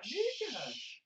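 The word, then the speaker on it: Nečas: It rhymes with Brock. Yep. Martin Nikash. Nikash.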